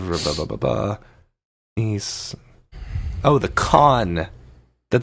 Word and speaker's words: Cannes: Baba nice oh the con that the actual word pronounced con in France France the way DOM